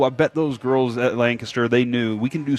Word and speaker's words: Lancaster: it right too cuz I don't say Landcaster I I I will admit it's Lancaster lanter I will admit I